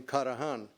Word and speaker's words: Karahan: My name is Karahan. In Turkey, they pronounce the last name Karahan.